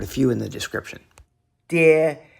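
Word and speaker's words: 跌: De means to fall. However, in Taiwan it's often pronounced with the second tone, de.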